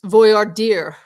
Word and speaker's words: voir dire: It's voir dire, like deer. Voir dire. Okay. Voir dire, like deer in the headlights.